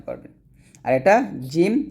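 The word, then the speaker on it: جيم: উচ্চারণ পারবেন আর এটা জিম জিহবার মধ্যখান উপরের তলার সঙ্গে লাগিয়ে আমরা উচ্চারণ করব জিম এরকম ভাবে আমার সাথে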